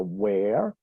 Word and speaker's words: where: Que se pronuncia where, con un sonido abierto de la E, where, ¿sí?